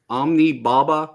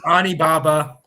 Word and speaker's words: Onibaba: Omni Baba or Omni Naba or is that Omni? You said it right the first time, so I'm gonna give you. Yeah, Okay. I'm gonna. I was just Onibaba.